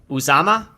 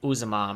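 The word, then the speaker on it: Uzomah: Uzama, Is that his name? Yeah, CJ Uzama.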